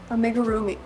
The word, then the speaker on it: amigurumi: Anyway, it's amigurumi and I apologize for saying it wrong this entire time.